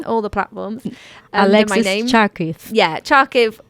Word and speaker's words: Charkiw: k i w but if you pronounce the W as a v it's fonetic so it's